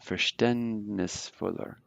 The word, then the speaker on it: verständnisvoller: Remember this A umlaut, verständnisvoller.